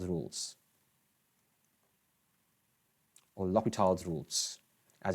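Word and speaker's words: L'Hôpital: So in terms of limits, we have to use L'Hopital's rules, or L'Hopital's rules, as it's pronounced.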